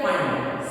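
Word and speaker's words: Pfund: Lyman, Balmer, Paschen bracket fund series. Fund series here P silent letter.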